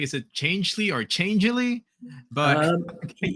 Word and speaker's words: Changelly: Is it chang or changely? But either way is fine. Yeah, ch changely is the way we pronounce it.